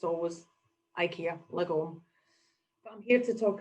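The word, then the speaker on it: lagom: So Live Lagon, and for a Glaswegian saying Lagon, it sounds like we were trying to be posh, but it's actually, that's how we pronounce it.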